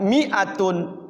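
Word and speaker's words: مِائَةٌ: Mi-nya itu tulisannya ada madnya, ada huruf alifnya. Tapi dia bacanya tidak panjang.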